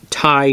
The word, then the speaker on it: Tighe: right the first time and this is the tie tack two five two three oh and I